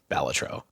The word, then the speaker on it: Balatro: on the interview was how do you actually pronounce it and he said batro Anonymous developer who has decided to M stay